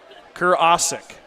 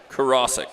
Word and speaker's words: Karasik: Kurasik. Karasik. Karasik. Yeah, that's right.